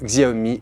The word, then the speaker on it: Xiaomi: un prix très intéressant pour un 5,5 pouces de marque Xiaomi, une marque qu'on a choisi de prononcer à la française, c'est le Xiaomi Redmi Note 2.